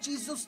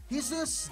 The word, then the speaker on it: Jesus: That is what Jesus does. I've said his name wrong again, haven't I? It's Jesus.